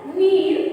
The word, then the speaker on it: नीर: देखिए यहाँ भी यदि आप इसका उच्चारण कर रहे हैं तो दोनों शब्द एक जैसे लगेंगे। नीड़, तुम मेरे लिए नीर लाओ। नीड़, पेड़ पर नीड़ है, नीड़। मात्र र और ड़ का अंतर है।